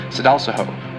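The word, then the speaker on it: Sadalsuud: The brightest star in Aquarius is pronounced Sedalsaho, which is Arabic for luck of lucks, and the brightest star in Pegasus is pronounced Epsilon Pegasi.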